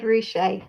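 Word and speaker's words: Ruscha: say his name because i always get his surname wrong it's ed roushay that's that's thank you um but that as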